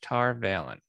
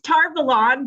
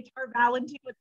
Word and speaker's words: Tar Valon: called the flame of tar valen i probably butchered that that's tar valon but you know what there's a contingency of people that say to our valentine all right i saw the